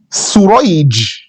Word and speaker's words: سريج: Like Shurayh, the son of An-Nu'man, versus Surayj, the son of An-Nu'man. So same script, but Sheen has 3 dots, Sin has no dots.